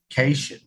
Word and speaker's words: cation: He is incorrectly identifying it as category ion. Yeah, we'll prove it's not. Trey, cation is a positively charged ion. Cat ion.